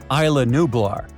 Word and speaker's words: Isla Nublar: Did I get those pronunciations right? Yeah. Only true fans know that the answer is A. Isla Nublar.